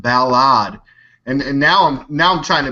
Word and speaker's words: Balad: I had a comment this weekend that I was saying Balad wrong. An American that worked at the military base there said, "D-Lake, you said it wrong. It's pronounced Balad."